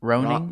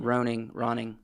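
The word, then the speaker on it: Rønning: His last name? It's Ranny? like it's right here. Ranny? I'm guessing Ronnie. Ron? it's Roning. Roning.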